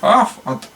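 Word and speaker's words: אויף: Аф пишется у нас аф, так и пишется в советском идише писалось. Вот. А в западном как ойф пишется, но читается аф.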